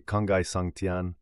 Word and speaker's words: 沧海桑田: capture cette transformation même l'expression sa sandian prononcée kangai santian se traduit littéralement par